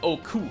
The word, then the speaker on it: Oku: Utsuho translates to emptiness, empty hole, or cave in Old Japanese, which is pronounced Utsuho. This is an example of a Japanese counterpoint to spelling pronunciation. The characters for Utsuho also mean sky and can be pronounced ku in a compound word, which is where we get Oku from.